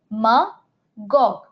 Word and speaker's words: demagogue: You break down the word de, ma, and gog. So notice you are using this word as gog. MA is being pronounced as MUH and de remains de.